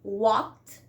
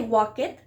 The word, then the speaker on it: walked: For example, walk in the infinitive verb becomes walked, ed, walked. You can see walked. We don't say walk it, walked. We are like not pronouncing the e, walked.